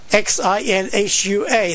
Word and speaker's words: Xinhua: all the time, and the way we pronounce X-I-N-H-U-A, that's what it was called, is Xinhua, I believe that's correct.